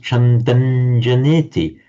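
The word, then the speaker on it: chandaṃ janeti: On its own, it would be pronounced Chandang, but with the following J, as I say, it's pronounced Chandanjaneti.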